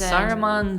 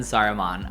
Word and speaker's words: Saruman: what sauron and ceramon oh yeah those are not a different entire extra syllable but you can't deny that sauron and saruman are very very close